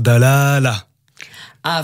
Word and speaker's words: Dalâla: pour cette question pourquoi l'accent circonflexe ça veut dire qu'il faut allonger la voyelle oui donc on prononce d'al ala a voilà je le prononce